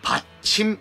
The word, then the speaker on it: パッチム: ですよねパッチムこの発音は日本語だからこれからはパッチンと発音しますので皆さんも覚えてくださいねこのパッチムはトータル 27 個